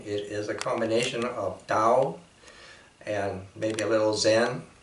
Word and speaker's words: Tao: the tao in china by the way china actually say dao we're kind of pronouncing that that way is way simply is